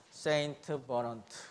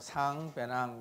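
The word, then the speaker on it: Saint-Venant: 뭐라고 읽겠어요? 세인트 버넌트. 그럼 마치 무슨 신부님 이름 같죠? 근데 이제 불란서도 이상하네. 그죠? 프랑스 사람이기 때문에 길습니다. 그 프랑스어는 전부 이응으로 끝난다 보면 되겠죠? 그래서 상, 배낭 그러면 그래서 이제 이게 상 원리입니다.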